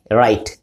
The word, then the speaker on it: write: এরকম silent letter English ভাষায় প্রচুর পরিমাণে আছে, যেমন WRITE রাইট। এই রাইট লিখতে গিয়ে আমরা শেষে একটা ই দিই কিন্তু ই এর উচ্চারণ নাই, রাইটে রাইটা রাইটে হয় না বা রাইটি হয় না।